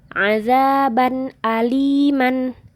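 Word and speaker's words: عَذَابًا أَلِيمًا: Jadi dibaca azaban aliman. Jelas kan ya? Nggak ada dengungnya, nggak ada samarnya.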